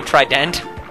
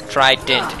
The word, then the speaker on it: Trident: how it works because the way it works is you say Trident tried it it's like trid int and that really bugs